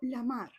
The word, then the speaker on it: Lamarr: actriz Bárbara Lamer y que Meyer lo que se aseguró es que fuese pronunciado como Lamar para sonar más suave y más glamuroso en este Hollywood de las estrellas.